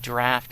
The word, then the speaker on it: draught: D-R-A-U-G-H-T is pronounced draft as opposed to a drought, which is D-R-O-U-G-H-T, which means you don't have any rain.